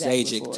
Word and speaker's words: Zajikc: So they think the J is silent. But Czechoslovakian is Zajikc.